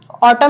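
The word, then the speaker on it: autumn: next word है ऑटम ऑटम means क्या होता है हम इसके मींस भी जाने तो ऑटम मींस होता है पतझड़ तो ऑटम में क्या साइलेंट वर्ड है लेटर है एन एन यहां पे साइलेंट लेटर है ओके ऐसे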